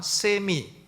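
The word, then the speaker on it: semi: 주 의 라고 합니다 세미 세미 하면은 절반 이라는 뜻이에요 발음할 때 세마 이라고도 하고 하는데 smi 펠라 규수 주의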